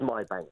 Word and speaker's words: MyBnk: financial education charity MyBnk, which I suppose you pronounce MyBank. I don't know. Hello, Nick. Morning. Morning. Thanks for having me. It's a pleasure. How do you pronounce it? It is MyBnk, yes.